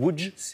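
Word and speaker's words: Łódź: pologne à découvrir alors d'abord c'est se dire ou djce et la prononciation polonaise en dire à l'autre c'est à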